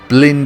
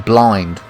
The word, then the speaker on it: Blind: the national anthem blend is how you say his name I call him blind but yeah whatever blend they